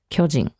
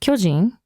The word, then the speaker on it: 巨人: And it's pronounced 巨人 in baseball. Whereas if it's just a term for a giant, it would be 巨人. So, you know, there's a slight difference in intonation or pitch there.